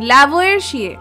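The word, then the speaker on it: Lavoisier: উত্তরটা হচ্ছে বিজ্ঞানী ল্যাভয়েশিয়ে। বা অনেকে বলে উচ্চারণটা তো আমরা যেহেতু আমরা বাঙালি বা ভারতীয় আমাদের মত করে করি।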